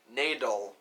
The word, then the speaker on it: Nadal: And it's like, well, it's pronounced Nadal. Like ladle with an N. Not like ladle, as some people have joked around, which is actually a pretty good joke.